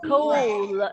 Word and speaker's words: coal: O is long and the A is silent. So how will you read this word? Coal.